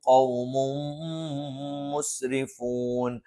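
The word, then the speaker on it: قَوْمٌ مُسْرِفُونَ: ഖൗമും മുസ്രിഫൂൻ, ഖൗമുൻ, തൻവീനു ശേഷം മീമു വന്നു, ഇദ്ഗാമും ബിഗുന്നയാണ്. തൻവീനിന് ശേഷമുള്ള മീമിലേക്ക് ചേർത്ത് മണിച്ചുകൊണ്ട് ഉച്ചരിക്കും. ഖൗമും മുസ്രിഫൂൻ.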